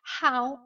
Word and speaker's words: how: Alors, voyons un petit peu cette prononciation de "How do you". Vous savez que pour prononcer cette phrase how h ow comme ici n'oubliez pas que le h n'est pas mué, on le prononce, on dira how how.